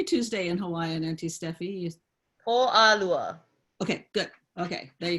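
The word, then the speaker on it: Pōʻalua: do you say Tuesday in Hawaiian auntie Stephie Oh Lala okay good okay there you go what she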